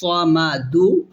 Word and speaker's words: الصمد: Allahus samadu. Allahus samadu. Samadu. Waqf is Allahus samad. Dal, it's qalqala.